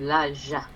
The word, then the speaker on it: laja: Is it le or la? La. Laja. Good.